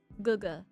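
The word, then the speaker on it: gege: And then, in Chinese, I'm gonna mispronounce it, but to my understanding, it's guga. It's spelled G-E-G-E.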